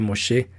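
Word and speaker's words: משה: En hebreo su nombre significa sacado de y se pronuncia Moshe, pero viene de la raíz egipcia Mosú o Mesú, que significa hijo o niño.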